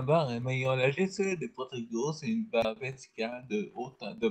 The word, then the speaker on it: Protego: Que vous savez sur quelle syllabe on accentue? Sur le T. Protego.